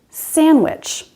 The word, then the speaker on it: sandwich: handsome in the word sandwich if you look that up in a dictionary you would see the d sound but it's actually never pronounced that way so wednesday handsome the